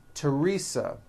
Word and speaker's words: Teresa: spelled with a th they are pronounced as if they were spelled with a normal T like that and these words are Thomas Thompson Teresa Thailand Thames like the